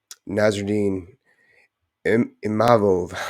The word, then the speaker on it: Nassourdine Imavov: What was it, 5 days against Nassourdine Imavov.